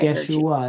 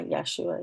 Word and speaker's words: Yeshua: I just want to make sure um that I Yesua is spelled Y E S H U A. Yeah. Yesua.